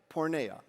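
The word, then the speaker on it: porneia: The Greek word in the Bible here is spelled, it's translated sexual sin. P O R N E I A. Porna.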